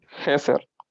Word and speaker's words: Gesser: ¿Gesser o Gesser? ¿Cómo se dice? Ayúdenme a pronunciarlo para. Gesser. Gesser. Ah, perfecto, Gesser.